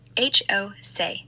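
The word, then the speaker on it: José: Pronounce that name, please. Jose. H O say.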